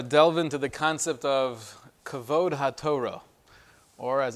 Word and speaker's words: Kavod HaTorah: I'd like to delve into the concept of Kavod HaTorah, or as it's usually pronounced, Kavod HaTorah.